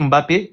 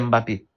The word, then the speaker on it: Mbappé: Mais ça c'est l'accent qui fait qu'il dise Mbappé. Mais c'est toujours Mbappé. Et même et même dans ce cas, est-ce une bonne prononciation ou une mauvaise ? Vraiment, c'est une mauvaise prononciation encore.